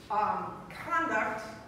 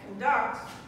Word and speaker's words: conduct: work if you say conduct stress on the first syllable condom then it's a noun that means behavior but if you put the stress on the second syllable conduct that it's a verb that means to leave